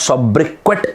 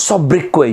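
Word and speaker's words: sobriquet: mark my words s-o-b-r-i-q-u-e-t the pronunciation of this word is not sub-briquette it is what is sub-breakaway your nickname i wanted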